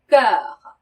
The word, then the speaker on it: cœur: 이 cœur는 아까 말러그 할 때 이 어처럼 입술을 한 상태에서 에 소리를 낼 때 나오는 발음이거든요. 그래서 cœur 이렇게 발음하셔야 되고요.